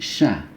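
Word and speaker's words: شَ: Yang ini sa, yang ini sha. Ya, ketika sha ini lebih sederhana itu, kita ketika pengucapan itu mulut kita ini dalam posisi tersenyum.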